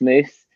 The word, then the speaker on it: mus: But anyway, so basically, the choir sung in Latin, and in Latin, MUS is pronounced moose.